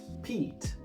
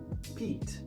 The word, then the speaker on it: Pete: So the long sound will be E because this E tells us it's long. Pete. Pete.